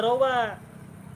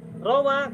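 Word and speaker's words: رَوَى: Rawa sama rawiyah huruf-hurufnya sama, tapi cara baca wawunya beda. Ada yang wa, ada yang wi. Ada rawa, ada rawiyah.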